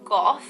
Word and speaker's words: Gogh: And some celebrities who have or had their Jupiter within the sign of Sagittarius include Vincent van Gogh, or Go, however you want to pronounce it depending on where you're from, Mila Kunis, Winona Ryder, and Woody Allen.